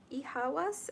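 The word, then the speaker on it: Eihwaz: We have first Ihawas. It's spelled E-I-H-W-A-Z.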